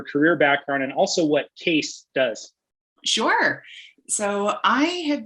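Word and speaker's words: CAES: three years now and case is spelled c-a-e-s not c-a-s-e but we pronounce it case and what we do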